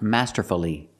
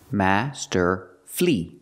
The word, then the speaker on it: masterfully: playing the guitar masterfully the word is not pronounced masterfully masterfully masterfully is not correct it's not four syllables we pronounce it with three syllables Master flee flee the last syllable is flee not fully but flee Master flee Master flee put the stress on the first and third syllable Master F masterfully if